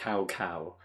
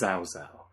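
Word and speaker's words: Cao: pronunciations of every character, they went from the words cow, and then they suddenly turn it into the Chinese equivalent out of nowhere, and it's it's not cow anymore, it's zao. Yeah, that was number 7.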